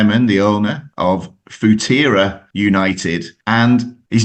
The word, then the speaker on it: Futera: I've been saying Futera. Yeah, Futera United is how I pronounce it. It's made up of the words future and era.